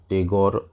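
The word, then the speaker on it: Tagore: সম্বন্ধে লিখবো রবীন্দ্রনাথ ঠাকুর রবীন্দ্রনাথ টেগর ইংরেজিতে টেগর উচ্চারণ করা হয় ওয়াজ বর্ন জন্মগ্রহণ করেছিলেন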